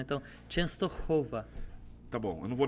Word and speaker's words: Częstochowa: É um sopro, literalmente é isso, né? Então, Częstochowa.